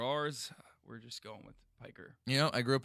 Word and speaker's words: Piker: It's Piker, but I can't roll my R's. Since Americans, by and large, can't roll their R's, we're just going with Piker.